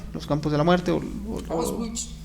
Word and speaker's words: Auschwitz: bueno, se pronuncia Auschwitz. Recuerden que en alemán la W es como una B.